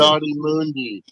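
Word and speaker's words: Ki-Adi-Mundi: Yadi Mundi.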